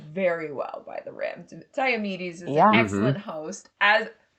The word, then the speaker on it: Diomedes: But have you heard the proper pronunciation of it? Walk me Because through it. it I'm really ready. flows. Diomedes.